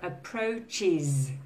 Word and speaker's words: approaches: Okay, so approaches has an is sound. All the rest have a Z sound at the end.